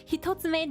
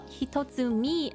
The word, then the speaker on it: Hitotsume: And then next we have Hitotsume Giant, which hilariously they call Hitotsumi Giant. They pronounced the word wrong.